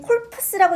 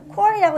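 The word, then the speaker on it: corps: 그리고 이거 읽을 때 콜푸스라고 읽는 거 아니야. 이거 묵음이야. 뒤에 P하고 S는 자 콜이라고 읽는 거고.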